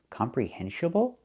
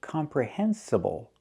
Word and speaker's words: comprehensible: The word is not pronounced comprehensible input. It's not pronounced comprehensible input. Comprehensiable. It should be comprehensible.